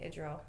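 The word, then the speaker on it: Idril: It's I D R I L. Oh, Adriel. I was thinking of the kid. Yeah. Okay. Adril. Yes, you're right.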